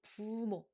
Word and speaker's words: 부모: So it's in between the pu sound and bu sound. 부모, 부모. The easier way to pronounce this correctly is that you use a lower pitched sound because 피읍 also has a low pitched sound.